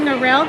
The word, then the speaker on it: Narelle: I'm saying Narelle because it rhymes with Purell.